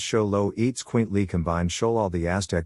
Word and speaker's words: Xoloitzcuintle: since the name zolo at swintley which is pronounced show low eats quint lee combined show all the aztec god of the